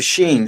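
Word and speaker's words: שׁ: and the 22nd letter because the sheen uh it has two different pronunciations. you have the sheen and you have the scene of of pronunciations.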